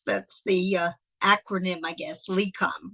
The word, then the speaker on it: LECOM: Yes, that's that's the acronym, I guess, LECOM, right?